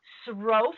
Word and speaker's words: Sroufe: It's Chef Sroufe, which rhymes with loaf.